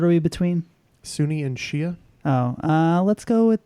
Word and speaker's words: Shia: Justin to Kelsey uh we went with Shia which I learned is the real pronunciation and not Shiite well so I'm an